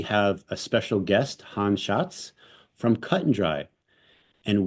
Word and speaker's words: Schatz: the I'm saying it with the correct Italian pronunciation and today we have a special guest Han Shotz from cut and dry and we're gonna talk